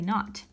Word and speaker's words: naught: see is pronounced not it's not an O it's a knot and this subscript means